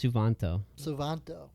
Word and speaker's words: Suvanto: You can't pronounce it. It's Suvanto.